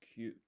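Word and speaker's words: きゅ: So you don't pronounce the E here. It's not ki-u, it's Q.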